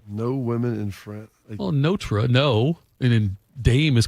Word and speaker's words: Notre: Every time I say it now, I'm going to pause and say notra. That's how it's supposed to be pronounced. Took me years. It's the way they say it in Paris.